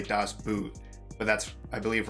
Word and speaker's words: Das Boot: today we are watching das boat i believe that's how it's pronounced hopefully i think it's like you say it as b-o-h-t so boat oh okay so but